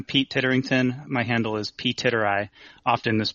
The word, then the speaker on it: Ptitteri: coffee uh I'm Pete titterington my handle is Pete tit ey often this pronounced on the uh in the community but